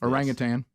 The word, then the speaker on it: orangutan: how do you pronounce orangutan it is tan that's official this whole time I've wanted to say Tang for 57 years yeah